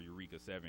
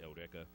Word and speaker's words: Eureka: And another one I've seen is Eureka 7 or Eureka 7, if you pronounce it that way. The Japanese pronounce it Eureka.